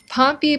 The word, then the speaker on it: Pompey: Pompey Blount, Pompey rhymes with Stompy, Pompey Blount became a teenager successfully, enrolled to have 10 baby tries, so very much overachieving.